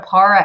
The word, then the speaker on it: para: I still don't know what a para educator is, but I'm assuming that's like a part-time kind of situation. But yeah, you guys will let me know. Oh, it's pronounced para, like paraphrase, says Hitman.